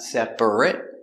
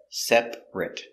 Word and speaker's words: separate: two separate hotel rooms so we're focusing on this pronunciation separate not separate but separate together separate separate rooms